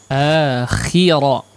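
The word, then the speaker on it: الآخرة: Akhira. Khi-nya diperjelas, kurang jelas apaan? Wa inna lana lal akhirata wal ula. akhirat. Ya, khi-nya kurang jelas ya. Tadi agak ke fathah sedikit ya.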